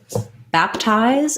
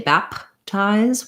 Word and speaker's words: baptize: be the same though first syllable stress sounds like ah ties here's another example of an unreleased stop so i don't say back ties with a with a break and a released p i just make close